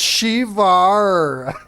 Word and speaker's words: Shiva: No, it's pronounced Shivar.